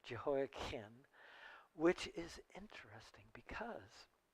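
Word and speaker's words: Jehoiachin: je jeho Kim jein it's a CH and we often want to pronounce it with chin but it should be pronounced Ken jeho kin which is interesting because jeho Ken was the last king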